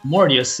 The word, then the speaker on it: Mortius: Mordeus? Mordeus? Mortius is how I pronounce it.